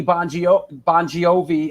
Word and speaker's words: Bon Jovi: Tony Bon Jovi. How do you pronounce it properly? Bon Jovi. Bon right? Jovi.